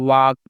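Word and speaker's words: walk: के क्या पढ़ना है वाक पढ़ना है वालक नहीं पढ़ना है क्या पढ़ना है इसे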